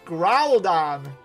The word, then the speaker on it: Groudon: It's Groudon. Like a ground cuz it's a ground type and Don as a dinosaur.